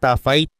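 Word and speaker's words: taaffeite: Ang tough fight. Oo, ganoon ang tamang bigkas ay isa sa mga pinakabihirang gemstones sa buong mundo at nadiskubre lamang dahil sa isang pagkakamali.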